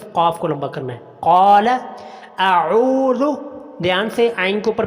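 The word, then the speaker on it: أعوذ: بہت سارے لوگ یہاں پر اعوذ پڑھتے ہیں، وہ آ کو یعنی کہ حمزہ کو لمبا کر دیتے ہیں، جبکہ یہ بہت بڑی غلطی ہے. تو صحیح تلفظ کیا ہے؟ قال اعوذ، عین کو لمبا کرنا ہے.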